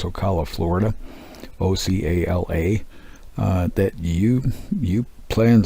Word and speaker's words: Ocala: I actually hope, if you're in the area of Ocala, I believe is how it's pronounced, Ocala, Florida, Ocala, that you plan to stop by and see this museum, because it is awesome.